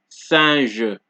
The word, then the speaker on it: singe: So S at the beginning of a word is pronounced like a regular S. So, example, so, son, singe, so, son, singe, so, son, singe.